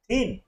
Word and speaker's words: thin: THIN, THIN, TH का उच्चारण होगा थ, आई का ई, एन, इनको हमने मिला दिया, हो गया थिन।